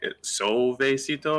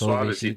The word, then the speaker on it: Suavecito: Like my name is Suavecito, and people see oh, and they're like, "It's Soavecito." Yeah, No, it's Suavecito.